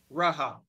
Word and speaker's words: Rahab: Greek script of the name and it is pronounced this way Strong's G 4460 rabab Rahab and it is a proper feminine noun so it's the name of a female and it is of Hebrew origin Rahab two times which are the two New Testament